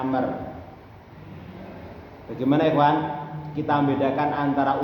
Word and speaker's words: Amr: an Abdillah B Umar radhiallahu anhuma tadi Ahsan bacanya Amr Bagaimana Ikhwan kita membedakan antara Umar sama Amr